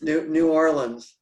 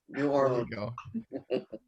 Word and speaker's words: New Orleans: no no okay can you introduce yourself it's new orleans new orleans so this is carlos carrick guy at large